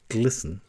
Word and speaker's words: GLSEN: GLSEN, pronounced GLSEN, is the gay, lesbian, straight educational network in the United States which works in schools.